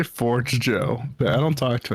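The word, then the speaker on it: Forgejo: Is it Forgio or is it Forge Joe? Say Forge Joe, but I don't talk to anyone.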